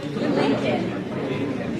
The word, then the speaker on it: Lincoln: There is no L. Lincoln.